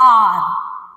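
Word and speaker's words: hour: अभी आर जो है, आर का स्पेलिंग क्या होता है, एच ओ यू आर। एच इज the vowel, sorry H इज the consonant. ह आता है आपका व्यंजन में, but will put an before it, why, because we आर pronouncing it आर। आर means आर, that's why we'll put an, an, okay.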